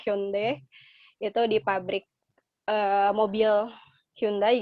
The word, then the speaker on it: Hyundai: Terus ini lagi field trip yang tadi sama kayak Setiza di Hyundai kalau kita bacanya, tapi cara bacanya sebenarnya adalah Hyundai.